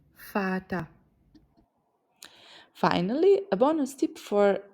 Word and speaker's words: Vater: Picture a very fine father in a tuxedo, and remember the German father starts with the F sound. Vater.